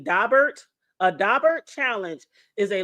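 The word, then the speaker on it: Daubert: Now, for y'all who don't know, because I didn't know this either, but a dabbert and it's spelled D A B E R T. Dobert.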